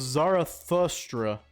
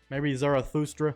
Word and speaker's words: Zarathustra: Zoroaster's given name was Zarathustra. That's how you say it, I think, maybe Zarathustra.